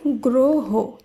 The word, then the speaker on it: গ্রহ: তাই গয় র ফলা হ এই শব্দটি শুদ্ধ উচ্চারণ হবে গ্রহ।